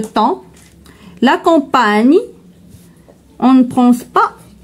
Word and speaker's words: temps: Donc le temps, on prononce pas p ni s donc le temps.